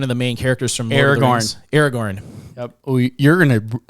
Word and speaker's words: Aragorn: uh the one of the main characters from Aragorn Aragorn oh you're gonna like you just mispronounced the Lord of the Rings I love